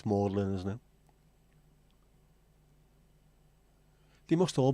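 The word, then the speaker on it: Magdalene: see the mlin sisters does that pronounce mlin or magdalin cuz if it's a college it's mlin isn't it they must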